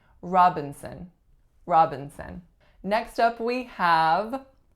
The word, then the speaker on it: Robinson: next one we have Robinson Robinson three syllables in this one the winner again is on the first and the sound that it makes is aa the second syllable then it's a syllabic N or schwa n and the third syllable is also a schwa Robinson Robinson next up